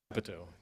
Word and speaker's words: Capito: Capito.